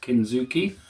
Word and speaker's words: kintsugi: of the vasas is called the kin Zuki style pronounced kin Zuki um but it's spelled kintsugi um I'll probably put